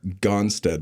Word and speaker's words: Gonstead: So, me knowing only that, yeah, you practice the Gonstead method. Yeah. Am I pronouncing that right?